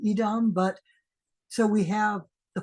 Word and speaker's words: Edom: can also mean red it wouldn't be pronounced as Adam it's more likely Edom but so we have